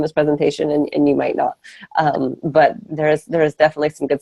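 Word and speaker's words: Ngo: N as in Nancy, G-O, and it's pronounced no.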